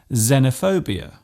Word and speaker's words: xenophobia: It often starts a word by being pronounced as Z, such as in xylophone and xenophobia.